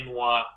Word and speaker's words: Noire: These guys developed LA Noire.